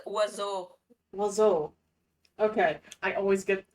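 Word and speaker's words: oiseau: English English speakers are more French for it's pronounced wazo.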